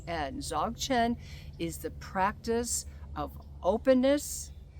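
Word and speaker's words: Dzogchen: you know what comes to mind is um zogin if you're not familiar with the practice of zogan well it's spelled DZ o g c h en zogan is the practice of openness and presence right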